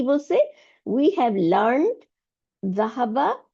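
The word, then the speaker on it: ذهبوا: Note that there is an Alif at দ্য এন্ড অফ the word which is not pronounce.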